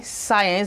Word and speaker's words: science: It says that if C should come after S, that is S before C, it sounds this way, science, that is, the C is not going to be pronounced.